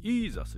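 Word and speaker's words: Jesus: ですけども例えばこの J の音はですねえなんと中東とかヨーロッパの北の方はですね Y の音で発音するからジェじゃなくてあのジーザスはねイーザスになっちゃうんですよだからジャパンは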